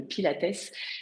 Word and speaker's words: Pilates: c'est quoi alors le Pilate d'ailleurs on le dit en anglais normalement enfin avec la prononciation anglaise on va dire le pilatess ça vient de Joseph Pilate si je le dit en français euh qui